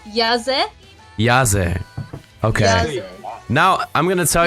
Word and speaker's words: Yazzehh: all I want to know it's yes it yahzee okay now I'm gonna tell you that wherever you pronounce it right and then I'm gonna forget